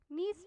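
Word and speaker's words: gneiss: लिखा रहता है और इंग्लिश में आप देखेंगे तो जी साइलेंट होता है आपको ऐसा लिखा मिलेगा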